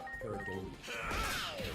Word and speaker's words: pareidolia: I don't want to mispronounce because then it sounds like something else. But the correct pronunciation is pareidolia.